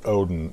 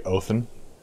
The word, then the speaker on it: Odin: stuff that's why the proper way to say odin is really oathan wanting something new guys